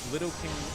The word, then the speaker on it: lidocaine: If Lidocaine is used in Lidocaine. It's lidocaine. Who the fuck pronounces little? Idiots.